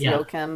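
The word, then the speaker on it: Joachim: Um and I don't how wim joer trier yeah I think because he's Scandinavian it's not pronounced wa we think it's yokim but yim yokim trier trier we'll go with trier sentimental value.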